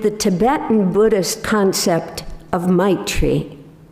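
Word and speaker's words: maitri: today's reflection with the Tibetan Buddhist concept of my tree it's spelled m-a-i-t-r-i might treat means something like our words benevolence loving kindness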